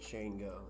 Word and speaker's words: Shango: definitely recommend shango growers shango oh yeah i see that okay that's how you pronounce that shane go it's like amg passionate